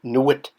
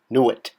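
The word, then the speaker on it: nwt: Now we have our glyph for town, which I don't know if I've mentioned is by itself pronounced Nuit, Nuit, N-W-T, which is at the determinative at the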